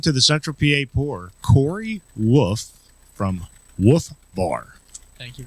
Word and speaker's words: Wolfe: My last name is W O L F E, but it's pronounced wolf.